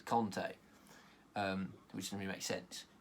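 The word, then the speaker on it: Kanté: I think Kante has said it's Conte, which doesn't really make sense, what I was about to say there.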